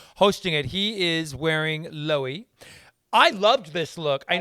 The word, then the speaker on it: Loewe: He is wearing Loewe. I loved this look. I know you didn't like it. We say Loewe, but it's Loewe. We say Loewe.